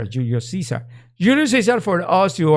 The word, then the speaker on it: Julius Caesar: put something like a Alexander the Great or Julius Kaiser or Julius Caesar Julius Caesar for us you are I still